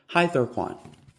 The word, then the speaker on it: Hythoquan: It used the Ambient Zebra letters Hi and Quan. Hythoquan. 3 syllables, 3 ways of life.